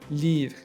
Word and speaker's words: livre: It's also silent at the end of a word. For example, table, table, livre, livre. So we don't say table or livre, okay?